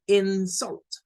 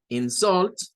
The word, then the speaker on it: insult: Y la tendríamos como decir como insult, insult, insult. Entonces tenemos dos pronunciaciones. Insult, insult, insult, insult. Y la diferencia en esas pronunciaciones radica si la estamos usando como verbo o como nombre.